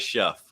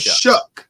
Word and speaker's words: Shough: It looks like Shuff, but it's Shuck.